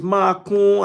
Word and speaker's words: Makun: They pronounce it as spelled, but it's not pronounced that way.